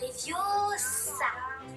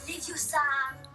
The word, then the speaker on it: Leviosa: C'est Leviosa. Et pas Leviosa.